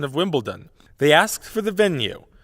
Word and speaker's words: Wimbledon: away from you Reed I'm I'm informed that you very clearly said Wimbledon not Wimbledon a few moments ago